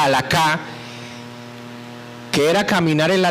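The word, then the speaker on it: הלכה: Pablo toma la experiencia del pasado, la aplica a los gentiles para que esa palabra hebrea que se pronuncia halakha, que era caminar en la ley, ahorita era caminar, como la teología de Pablo era caminar en Cristo, ¿no?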